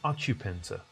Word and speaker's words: occupant: resident of the apartment so occupant occupant the a stress is put on the first syllable now the noun form